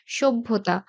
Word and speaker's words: সভ্যতা: সভ্যতা, আগে ব আসছে, তারপরে ভ।